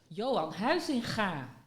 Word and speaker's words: Huizinga: Johan Huizinga. There we go. With the ga.